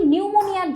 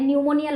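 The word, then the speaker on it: pneumonia: এখানে মানে নিউমোনিয়ার লক্ষণ জিজ্ঞেস করছে। সেক্ষেত্রে ফুসফুসের শ্লেষমা জমা এটা হচ্ছে আমরা নিউমোকস ব্যাকটেরিয়া আক্রমণ হলে দেখতে পাই। এখানে দেখ সামনে কিন্তু একটা সাইলেন্ট পি আছে।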